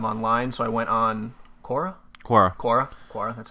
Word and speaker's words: Quora: So I went on Quora.